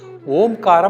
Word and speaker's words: ஓம்: இந்த ஓம்காரத்தை உச்சரிக்கும் பொழுது ஓன்னு சொல்லும் பொழுது முதுகு தண்டினுடைய கடைசி கீழ் பகுதியில இருந்து அந்த மூச்சோட்டை மேல்நோக்கி வருவதா பாவனை பண்ணி இம்னு முடிக்கும் போது தலைக்கு மேல இருந்து வந்து அப்படியே இதயத்தில அந்த இம்ங்கறத நம்ம அதிர்வலையா உச்சரிக்கின்றோம். ரெண்டு கை சின்முத்திரை வச்சுக்கோங்க.